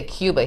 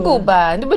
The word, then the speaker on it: Cuba: You want to go to Cuba. And I'm like, Cuba? No. Yeah. Cuba. That's right, we got to say it right. Give it some flavor.